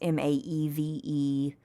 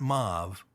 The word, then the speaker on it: Maeve: But, it's been anglicized a lot of different ways, M-A-E-V-E. But the old Irish is M-E-D-B. And how'd you pronounce that? Maeve. Maeve, not Mauve.